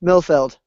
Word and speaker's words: Milfeld: And it's anytime I pronounce it out loud ever on audio, I always have to stress the D because I think it's E and it's like D as a dog.